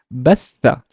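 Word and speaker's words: بثّ: So ba has a fatha, so it's ba, but the th has a shadda and fatha. So how would I pronounce it? It's batha, batha, batha, batha, batha.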